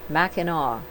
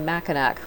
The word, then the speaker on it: Mackinac: Believe it or not, they are all pronounced the same, Mackinac. Malcolm always called it Mackinac Island, but when we saw it on a map, I thought he made a mistake. Many visitors mispronounce and say Mackinac, like I did, and you will hear it